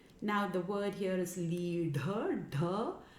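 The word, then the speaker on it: līḍha: The sound is made by the tongue in the retroflex position, so it's actually hitting the palate, the roof of the mouth. So it's leadha. It's commonly mispronounced as lidha or lidha.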